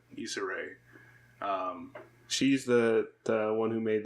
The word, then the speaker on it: Issa Rae: in there anthony mackie disarray is that how you say her name is it's a ray he's already said Issa Rae she's the one who